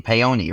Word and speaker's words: Paone: They were trying to get him to drop using the E sound at the end of our name, Paone, right?